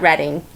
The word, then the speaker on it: Reading: this one that probably you would probably think that' be very easy that says reading we pronounce that reading all right here has